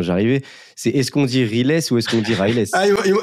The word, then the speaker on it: Riles: très répandu quoi donc les gens il le prononcent un peu à l'américaine mais non c'est Ress en fait Ress ok du coup Ress